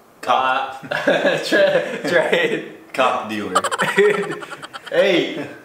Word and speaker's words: как: It's K-A-K, but it's, you know, it's a K, not a C sound.